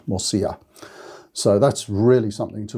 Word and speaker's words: morcilla: for the moisia m-o-r-c-i-l-a remember a double l in spanish is a y sound morcilla so that's really something